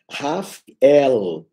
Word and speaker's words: Rafael: de raf raf quer dizer curar ou cura raf el a cura de Deus Rafael Rafel é a pronúncia correta então esses seres quando eu sou